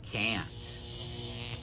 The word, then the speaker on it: can't: Notice that in can't, the ah is like in apple. Can't. Another one. I can't understand you very well. Also notice that can't is stressed when we use it, more than the I and the verb that follows.